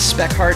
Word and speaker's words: Spekhardt: i'm joined today with this is spec heart is that how you uh pronounce that yes that's true all right awesome